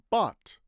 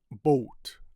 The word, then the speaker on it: bought: Bought. Bought. So some people pronounce it boat, maybe British people or something like that, but in American English it's bought.